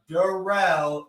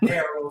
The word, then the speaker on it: Durrell: I hope everybody comes and checks out Durrell, not Darrell. Say his name right.